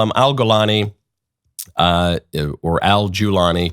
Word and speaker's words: al-Golani: The person who replaced him is an Islamist named Abu Muhammad al-Golani. His name is also pronounced al-Julani.